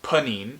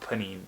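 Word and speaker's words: Pnin: 38 on this list I think it's pronounced panine I'm not looking it up it's spelled PN i n it's by novakov Vladimir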